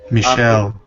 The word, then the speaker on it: Michel: is from uh designer michael ansel who created rayman michelle michelle right now yeah it's spelled the french michelle ansel um and it's